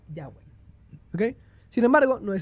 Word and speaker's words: Yahweh: Textos antiguos como los de los samaritanos y algunas inscripciones también apuntan a que se pronuncia Yahweh.